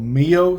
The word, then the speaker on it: MiYO: But now with this being part of the I believe it's called Mio series is how they pronounce it.